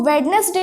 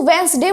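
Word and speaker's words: Wednesday: यहां पे वेडनेसडे देखिए वेस्टर्न में हम लोग दी साइलेंट रखते हैं इसको वेडनेसडे नहीं बोलते हैं इसको वंस दे बोलते हैं और उसके बाद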